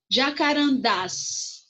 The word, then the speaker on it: jacarandás: Jacarandás. O das é a sílaba mais forte e é terminada em as.